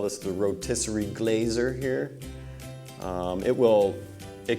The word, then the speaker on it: GlaZer: be demoing the Glazer it is pronounced Glazer with a G make sure you pronounce